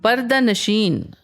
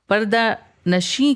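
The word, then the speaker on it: पर्दा-नशीन: पर्दा नशीन पर्दा नशीन फारसी ओरिजन का एक कंपाउंड शब्द है जो पर्दा नसी के तोर पर भी प्रोनाउंस होता है यह दो लफ्जों से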